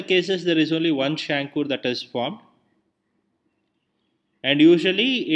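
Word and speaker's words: chancre: it is called a shankur okay it is uh spelled as c h a n c r e but pronounced as shankur and this can appear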